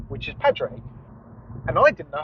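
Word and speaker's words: Padraig: had to write my full name which is Patrick and I didn't know how to spell Patrick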